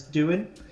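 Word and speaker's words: Van Duyn: can never pronounce this, Duyn. It's V-A-N, Van, the first word, and then D-U-Y-N, the surname.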